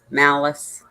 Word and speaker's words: Malice: And it's spelled just like it sounds, Malice. Yep. Just like the word Malice.